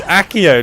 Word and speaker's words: Accio: you're saying it wrong it's axio not axio oh it does it's accio not Axia even I'm getting